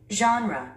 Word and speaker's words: genre: genre, genre. 우리 한국인들은 이 단어를 장르라고 합니다. 그런데 원어민들은요? genre, genre. 스트레스를 맨 앞에 줍니다.